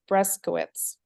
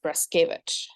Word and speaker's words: Breskowitz: it correctly it so the like English pronunciation that our family uses is breskowitz okay um it's polish so the Polish pronunciation is breskevich okay okay so that's